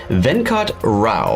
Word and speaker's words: Venkat Rao: I'm your host, and today it is my pleasure to introduce to you Venkat Rao.